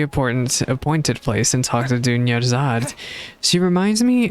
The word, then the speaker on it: Dunyarzad: She reminds me, the name reminds me because it rhymes. It reminds me of a character from The Legend of Heroes Trails in the Sky. Her name is Sherazad. Oh, I see co-op is turned off.